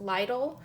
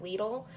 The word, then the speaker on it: Lidl: video for lidl um i've also heard it pronounced lydle um but i looked it up on the internet before doing this video and it says that the connect pronunciation in german is lethal and um oddly enough in the store um